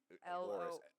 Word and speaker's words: Loris: Loris, R-I-S. Loris.